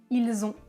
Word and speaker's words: ils ont: Et enfin, le dernier, ils ont, ils ont, ils ont. Je prononce ils ont. Les cordes vocales vibrent.